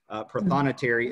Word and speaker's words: prothonotary: What is a prothonotary? How do you even say that word? Prothonotary is how I have always learned it, Katie. But I think another pronunciation for that is actually prothonotary, and if you break